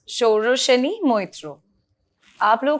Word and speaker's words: Sauraseni: Sauraseni.